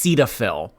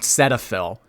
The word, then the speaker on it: Cetaphil: we went over this it's pronounced Cetaphil Cetaphil not Cetaphil and this oh you